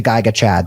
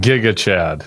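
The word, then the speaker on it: Gigachad: Geigu sounds like a bad sequel to Geiga Chad. There's a bunch of different Giga. I think now I got you pronouncing Giga Chad.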